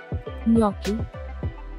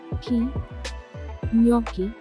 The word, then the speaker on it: gnocchi: learn its correct pronunciation gnocchi it is gnocchi g is silent here there is an invisible y here in the stress is on no so the correct pronunciation is gnocchi gnocchi moving